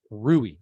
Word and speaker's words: Rui: How do you say his name? Rui. I keep wanting to call him Rudy.